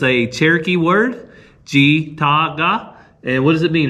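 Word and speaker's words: ᏥᏔᎦ: which is in Cherokee, the T-S-I makes a G sound.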